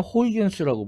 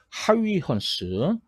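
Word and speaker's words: Huygens: 옛날에는 호이겐스라고 불렀는데 요즘 원어 발음에 좀 가깝게 하위헌스.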